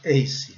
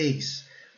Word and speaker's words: ace: Brasileiro vai falar ace, mas não é. A pronúncia é ace. O A com o som de E, o som básico, e o E silencioso, ok?